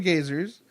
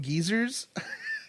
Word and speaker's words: geyser: You just called them geysers, right? And then when the narrator was reading the book, he called them geezers. and I pronounce it geysers, so we're gonna have all the pronunciations for that right now.